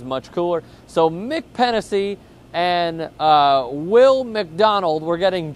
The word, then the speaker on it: Pennisi: It got chippy between Barako's Mick Pennisi. It is spelled P-E-N-N-I-S-I, so it is not penis.